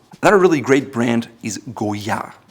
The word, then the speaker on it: Goyard: Another really great brand is Goyard. It's pronounced Goyard without the D at the end. It's not Goyard.